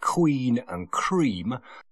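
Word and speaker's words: quinqueremes: And also the quincremes. And to pronounce that, some people pronounce it queen and cream.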